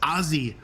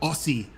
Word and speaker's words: Aussie: and she said Dad it's aie loudmouth not Aussie loudmouth you have to say